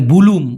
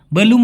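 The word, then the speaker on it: belum: যায় সেটা হল বেলুম অনেকে বলে ভুলুম ভুলুম নাম হবে বেলুম মানেও এখনো না মাসি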